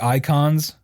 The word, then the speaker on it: Eikons: Like you have the icons, which it's spelled EIKONS, by the way, because it's just a cooler way to spell it.